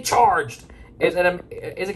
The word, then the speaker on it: CHRGD: silence is family george c h rgd have pronounced as fairly charged is it a is